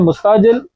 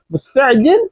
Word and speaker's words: مستعجل: عریبک اور بہتر ہوگی اکثر ہم لوگ کیا بولتے ہیں مستعجل مستعجل اس طرح سے بولتے ہیں تو مطلب کہ صحیح امپریشن نہیں جاتا ٹھیک ہے اپ اپنا عین کا تلفظ اچھا کریں تو اپ کہیں گے مستجن یعنی کہ ار یو